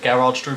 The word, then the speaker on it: Gerhard Struber: Gerhard Struber, I think it's there he is how it's actually pronounced.